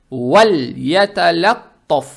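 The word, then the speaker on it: وليتلطف: Букву лам произносим мягко, и язык тут же не надо убирать, чтобы не было валаяталаттаф. Не валля, а валь. Вальяталаттаф.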